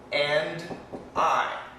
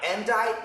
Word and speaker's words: and I: love sorry and die and die nobody except Whitney Houston says and die usually we say you and I you and I we're